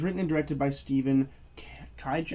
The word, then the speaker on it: Kijak: and directed by stephen kijak i believe it's pronounced kaijak uh this is a